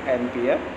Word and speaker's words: एम्पियर: ठीक है, किसमें, यूनिट सेल के अंदर उसे किस यूनिट में मेजर किया जाता है, तो एम्प्रे बोलते हैं, एम्पियर प्रोनाउंसिएशन करते हैं, लिखा होता है एम्पेरे.